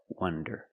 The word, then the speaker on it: wonder: So remember the pronunciation difference. Wander with the open sound, ah, wah, wander, and wonder with the closed sound, wonder.